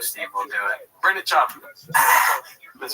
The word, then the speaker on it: Schaub: Brandon Chop.